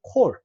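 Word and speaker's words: כָּל: 왜 그러냐 하면 이게 원래 오 발음이에요. 원래 오 발음인데 이거는 자 이건 단독으로 쓸 때는 강세가 오기 때문에 단모음인 오가 장모음화 된 겁니다. 이게 원래 모양이 아니고요. 원래는 단모음 오예요. 콜이.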